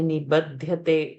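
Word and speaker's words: निबध्यते: Only to work on Mahapranas, like Panchamodhyayaha, the dha, buddhi, dha, or when we say nibadhyate, ba is to be alpa prana.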